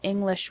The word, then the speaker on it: English: You probably already know that individual English words have stress. For example, the word English has the stress on the first syllable, ing.